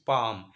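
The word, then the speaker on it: palm: No bigger than his पाम, इसको पढ़ेंगे पाम। L silent बच्चों, पाम, पापे की मात्रा पाम, एल को नहीं पढ़ेंगे।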